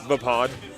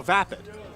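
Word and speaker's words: Vaapad: The pod, spelled very, very weird. It's spelled V-A-A-P-A-D. So Vapid.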